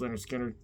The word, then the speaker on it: Lynyrd Skynyrd: really like them all but it's actually debut pronounce Leonard Skinner and this one of course that's Freebird the